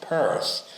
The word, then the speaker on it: Pierce: Well, in a lot of ways, Samuel Stillman Pierce, by 1837 pronounced Perse, opened his first store